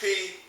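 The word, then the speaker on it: π: the Greek letter P we are used to calling this word pie in mathematics and algebra but the correct pronunciation is P as in the english word peach the next man in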